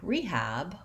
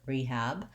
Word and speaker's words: rehab: call it rehab and when we say the word rehab we stress the first syllable we use a clear e vowel and we say the h sound rehab our a vowel the black cat vowel is what the second syllable has for letter a so long and short